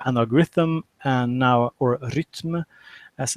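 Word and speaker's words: Rytm: I got the analog Rhythm and now or rythm as it's pronounced rythm in Swedish uh and now I got talk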